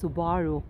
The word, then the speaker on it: Subaru: again this exchange especially it is pronounced subaru in japanese if you see the